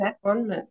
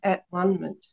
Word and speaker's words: atonement: I know it's annoying, but it actually says at onement. The word is at onement. Yeah. It's just way pronouncing it, you know.